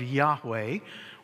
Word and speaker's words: Yahweh: Jehovah is actually a combination of the consonants of Yahweh, YHWH. YHWH, okay? Because in Bible writing, they did not use vowels.